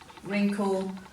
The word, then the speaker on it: wrinkle: as you'll see in all these words so let's go through as we read them and you can highlight the silent w and then come back